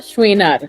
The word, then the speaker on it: Chouinard: tu apellido Cómo se pronuncia por favor shinar shinar lo pronuncié bien perfecto ya eres muy bien